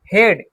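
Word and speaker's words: head: हेड, EA में हेड में ए क्या है? साइलेंट है, तो इसको HED, हेड पढ़ते हैं, हेड नहीं पढ़ेंगे, हेड।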